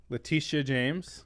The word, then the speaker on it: Letitia James: Letitia James.